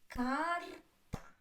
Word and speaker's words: карта: Карта. Two syllables and карта. Карта. The first syllable is stressed.